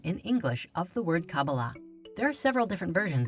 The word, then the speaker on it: Kabbalah: in the hebrew alphabet these four letters together are pronounced kabbalah however the most common